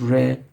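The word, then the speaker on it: ر: So the initial, it has the R sound, but in Farsi, it's not like the way the English speaking folks pronounce re. It sounds a bit more Russian, re, right?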